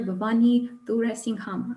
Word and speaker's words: Bhavani Thuraisingham: Bhavani Thuraisingham. Is that the correct pronunciation?